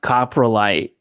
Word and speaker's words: coprolite: Um it's spelled and pronounced coprolite.